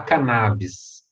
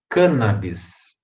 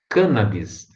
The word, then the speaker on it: cannabis: pronuncia errada né gente é todo mundo fala cannabis a pronúncia correta a gente cannabis proparoxítona cannabis porque foi cannabis que originou a palavra canhamo